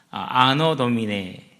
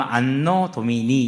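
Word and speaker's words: Anno Domini: 아노 도미네. 근데 정확한 발음은 안노 도미니 이렇게 표현을 하더라고. 몰라요. 발음마다 좀 다르니까. 이탈리아식이 영어식이 좀 다르니까.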